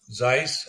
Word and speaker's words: Zeiss: He said, "I'm from I'm from Kaiis Yen and you know Zeiss as we pronounce it there it was an optical